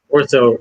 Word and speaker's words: Ortho: company they can set aside am I not pronouncing it right God Knight Ortho o r t h o Ortho Oro you're